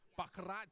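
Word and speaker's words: baccarat: I play crap you you actually pronounced it properly bakat but the funny thing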